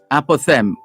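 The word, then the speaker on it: apothegm: to the the opening uh expressions is a-p-o-t-h-e-g-m apothem which is a concise saying or maxim otherwise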